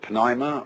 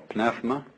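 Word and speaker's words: πνεῦμα: that breath is life the Greek word uh you may pronounce it Pima or PMA uh is the same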